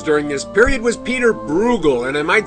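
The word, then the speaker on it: Bruegel: this period was peter brugel and i might say he spelled his name b-r-u-e-g-e-l and undoubtedly pronounced it brugel this is the fall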